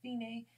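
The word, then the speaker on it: Fine: way till you see the word sign which is pronounced Feeny and at the end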